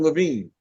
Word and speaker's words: Levine: Adam Levine. Oh, thank you for the invitation. It's Levin. I have relatives that pronounce it wrong, but Levin's cool.